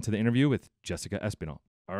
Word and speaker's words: Espinal: is it Jessica espinal it's Jessica espinal yes better than most people do espinal so the accent is on the E Yeah espanol okay now